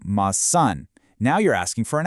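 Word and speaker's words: maçã: But add a tiny tilde over the A, ma-san, and the pronunciation completely flips to ma-san.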